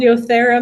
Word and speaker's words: Yothera: It's called Yothera method, and I'll tell you why. Yothera is yoga and therapy, and so yoga just means union of body. Yothera, Yothera. Yep. Yothera method?